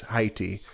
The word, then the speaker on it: Haiti: Haiti they call it it's Haiti I'm sure we say it wrong I'm sure they say it correctly I'm not even joking it probably is high tea though they wait they said it so many times in the movie I was like all right I get it I get it we say it wrong because we're dumb English speaking Americans we don't say Heidi right but they have a